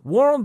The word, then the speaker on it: world: World رو چجوری بگم که نشه well, چیز عجیب غریب.